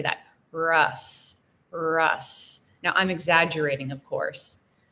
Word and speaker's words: Russ: difference in pronunciation so with the O it's Ross Ross and with the U it's Russ it's an uh that's a very American English sound uh uh so it